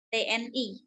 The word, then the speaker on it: TNI: Lebih tepatnya adalah kalau singkatan itu kita membacanya per huruf. Misalnya TNI. TNI.